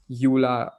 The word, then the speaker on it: EULA: EULA is spelled as EULA, pronounced as EULA.